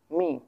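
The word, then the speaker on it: 明: সো প্রথমটা first tone পেয়ে গেছিলাম, দুটো ফার্স্ট টোন, এখন আমরা পাইতেছি প্রথমত আমরা কী পাইতেছি, second tone, মিং মিং মিং।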